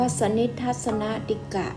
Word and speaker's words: สนิทสฺสนติก: เป็น บท ที่ 22 สนิด ทรรศนะ ติด กะ อ่าน ว่า สะ นิจ ทรรศนะ ดิ กะ ปฐมบท สนิท ทรรศนะ สัป